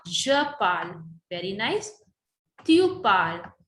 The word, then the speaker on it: parles: Tu parles. S is silent.